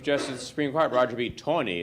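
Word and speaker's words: Taney: Supreme Court roger beat Tony as they pronounce it Mary land says you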